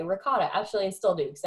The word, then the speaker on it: ricotta: Okay, so I used to say ricotta. Actually, I still do because I don't like the way they say it. But they say rigote. That's how it's supposed to be pronounced.